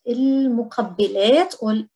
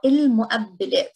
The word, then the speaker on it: المقبلات: Starters or appetizers, المقبلات or المؤبلات. So depending if you're pronouncing it as قاف or glottal stop.